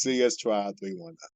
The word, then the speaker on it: CS Tribe 319: So 319, and it's not pronounced C19 simply because it doesn't sound good. Right. So it's 319. It's not complicated. It's just CS Tribe 319.